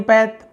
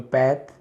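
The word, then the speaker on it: path: में पथ अंग्रेजी में पैथ हिंदी में पथ पथ यानी होता है मार गया रास्ता पथ बहुत से लोग पाथ भी बोलते हैं। है ना? माय पाथ बट पैथ सही उच्चारण होगा।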